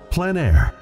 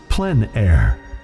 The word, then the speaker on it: plein air: of outdoor painting, called Plein Air. The French coined the term, which means open air or outdoors. The French pronounce it plein air. Others say plein air.